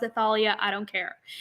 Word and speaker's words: Thalia: They're like, yeah, I was like, my name is spelled Thalia, but people always pronounce it Talia. So, but if you pronounce it Thalia, I don't care.